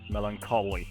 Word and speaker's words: melancholy: Melancholy, that's how you pronounce it, goddammit.